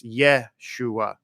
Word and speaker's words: Yeshua: in Hebrew is yahushua the shortened way to say yahushua is Yeshua it's Yeshua it's he would spell that in English ye SH you a Yeshua and so in